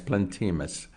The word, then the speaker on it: Plantemus: that is called plantemus it is spelled plant like a plant p-l-a-n-t e m u s plant plant emus plantimus okay that's the Instagram